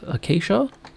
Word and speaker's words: acacia: And I'll insist on pronouncing it correctly as acacia. I mean, I love Surge, but his pronunciation of acacia actually just drives me up the wall.